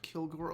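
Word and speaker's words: Kilg%re: time i know t ted i know it's pronounced kilgore okay you don't get to tell me how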